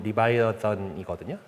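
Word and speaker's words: Leviathan: 아 이게 영어식으로 읽금 리바이어던이거든요.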